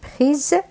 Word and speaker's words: prise: cette belle prise إذا هنا prise لأنه الأس لوحده وبين حرفين متحركين إذا يتغير صوته إلى حرف الزد.